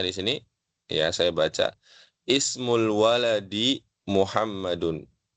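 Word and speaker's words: اسم: Saya baca jelas ismu karena dia mengawali kalimat ismu baca i. Ismul waladi Muhammadun. Adapun yang kedua wasmu. Nah, ini hamzahnya tidak dibaca ya. Jadi bukan wa ismul binti Zainabu, bukan ya, tapi wasmul binti Zainabu langsung ya masuk ke sin yang ber yang berharakat sukun di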